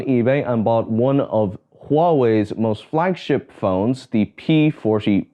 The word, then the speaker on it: Huawei: I recently went on eBay and bought one of Huawei's most flagship phones, the P40 Pro. Now a lot of you may know Huawei, and if you don't know how that's spelt,